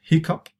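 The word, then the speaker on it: hiccough: It's a weird spelling here in English. It's pronounced hiccup.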